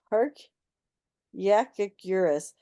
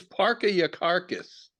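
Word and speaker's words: Parkyakarkus: Did he play this unpronounceable character? Oh my goodness. Park Yakigurus. Park Yakigurus? How would one say that rapidly? Park Yakigurus. Park Yakigurus. I give up. It's Parka Yakarkis.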